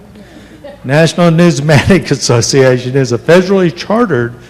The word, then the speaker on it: numismatic: Whereas the National, how do you say that word? Newsmatic. That's it. You said it right. National Numismatic Association is a federally